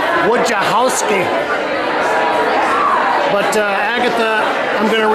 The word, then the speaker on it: Wojciechowsky: I asked Michael, the proprietor here, how you pronounce her last name, and it's Wojciechowsky.